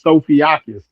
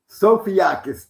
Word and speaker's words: Sofiakis: And his name his name is is Sophiaakis." Sophiaakis. Thank you. Yeah, that's how you pronounce it. Sophiaakis.